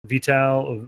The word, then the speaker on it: Vital: What is the correct pronunciation of your name? Vital.